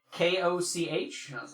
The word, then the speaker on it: Koch: I was like, it's spelled K-O-C-H, and I was like, K-O-C-H.